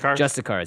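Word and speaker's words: Justiciar: Justicars, yeah, Justicars.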